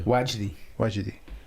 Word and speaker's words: Wajidi: One of the individuals, his name is Mufti Yasir Nadim Wajidi. Am I pronouncing that right, Shaykh? Yeah. Wajdi.